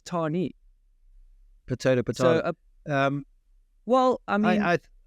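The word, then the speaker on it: Tahnée: They're doing hardline, Tane or Tani. Why do I think it's? I mean, I don't even say it correctly, and everyone else says Tani.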